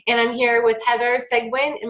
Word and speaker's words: Seguin: I'm here with Heather segment and my pronouncing your last name right close enough how do you pronounce it cygwin cygwin okay and she has